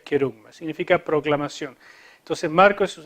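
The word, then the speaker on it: kerigma: Querigma le dicen algunos, pero en realidad se debería pronunciar querugma.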